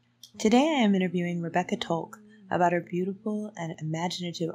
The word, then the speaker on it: Tolk: It's Tolk, right? That's the right way to say that.